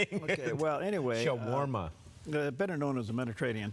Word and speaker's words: shawarma: Also, National Shawarma Day.